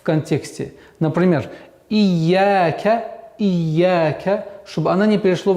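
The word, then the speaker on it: إِيَّاكَ: правильного произношения коранического текста, что каждая удвоенная буква состоит из двух букв. Например, в данной ситуации «я» – это первая буква «я» с сукуном, вторая буква «я» с огласовкой фатха.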